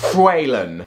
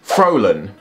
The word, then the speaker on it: Faolan: In Irish, it is pronounced Faolan. In Scottish Gaelic, it is pronounced Faolan. And in English, it is pronounced Faolan. So there you have it! On average, with approximate guesses, there is 4 different ways to say my name.